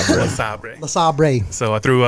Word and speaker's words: LeSabre: Second car was a 67 LeSabre, and I threw two I believe it's pronounced La Sabre. LeSabre.